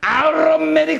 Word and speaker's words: automatic: 영어로 얘기하면 automatic circulation. 네? 내 발음 괜찮죠? 어때요? 요새 영어 automatic circulation 따라해봐요. automatic circulation. 미국에서는 aromatic circulation. 그 사람들은 T 발음을 안 해요.